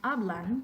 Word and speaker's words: hablan: La penúltima sílaba en la palabra hablan es A. ¿Es cierto? Pronunciación correcta, hablan. Sí, no es hablan, sino hablan.